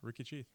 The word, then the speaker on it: Ricky Cheath: this goes on YouTube and my guest is Ricky chath am I pronouncing it right yeah Ricky chath awesome awesome um how's your day it's been